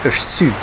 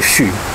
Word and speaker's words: chu: La première fois, tu l'as prononcé chut. C'est chut.